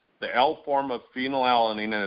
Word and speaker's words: phenylalanine: How do you pronounce that? Phenylalanine.